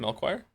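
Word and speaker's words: Melchior: Melchoir.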